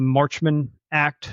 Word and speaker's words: Marchman Act: I believe this is pronounced the Marchman Act, Yes.